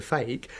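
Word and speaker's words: feke: Okay, a fake is something that looks real, but it's not, and it's spelled F-E-K-E, sort of magician's terminology.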